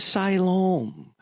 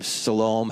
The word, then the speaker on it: Siloam: Siloam, or you could, there are many different ways of pronouncing it. I pronounce it Siloam, however you want to pronounce it.